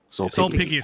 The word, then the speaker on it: Sulpicius: Sulpicius. So C's are pronounced as K's in Latin.